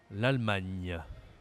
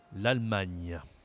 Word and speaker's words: l'Allemagne: on l'a déjà vu l'Allemagne l'Allemagne l'Allemagne cette prononciation à la fin du mot l'Allemagne ok c'est comme le mot montagne Allemagne montagne allez peut-être